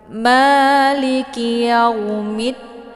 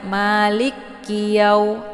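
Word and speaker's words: مالك يوم الدين: Banyak yang membacanya malikiyau. Salah ya, karena kafnya tidak ada tasydid. Jadi dibacanya jelas saja ya, jangan ditekan. Malikiyaumiddin. Yang ditekan itu di mid karena ada tasydidnya, sabdunya di huruf dal ya.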